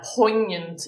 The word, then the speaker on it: poignant: Uh, poignant is how you pronounce that word there.